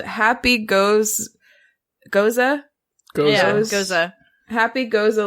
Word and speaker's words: Gose: I think they think that Goza is pronounced gose.